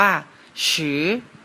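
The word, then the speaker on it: 十: นะ ครับ เลข 10 ภาษา จีน อ่าน ว่า ฉือ เริ่ม จาก ทาง ซ้าย ไป ทาง ขวา นะ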